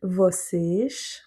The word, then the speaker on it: vocês: Donc là, on a l'accent circonflexe sur le E. Donc c'est bien lui qui va avoir l'accent tonique. On aura un E fermé. Vocês. Et du coup, le O avant, il est plutôt aussi ouvert. Donc vocês sejam.